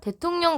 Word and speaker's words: 대통령: 더 예시를 들어 볼까요 대통령 같은게 있습니다 대통령 여기 있는 미음의 영향으로 리을이 니은으로 바뀌어 발음되는 현상이 인 거예요 이해되세요 그래서 이게 첫